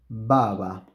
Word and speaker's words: baba: So there you see that we have an initial B. So we have a B at the beginning of the word, and we have another B which is in the middle of the word and between two vowels. So the two B's that are underlined have different pronunciation. Ba-va, ba-va, ba-va, ba-va, ba-va. So the first one is bilabial and the second one is an approximant.